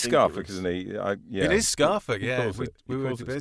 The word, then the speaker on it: Scarfolk: It is Scarfolk, yeah. We were debating Scarfolk, this, but listening back to the interview, yeah.